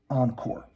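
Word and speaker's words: en corps: that phrase is pronounced Encore except it's written e n space corpse c o r PS but it sounds a lot like Encore again and again with each session again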